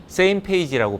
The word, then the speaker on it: SMPAG: 첫 번째 조직은 SMPAG, Same Page라고 발음을 합니다.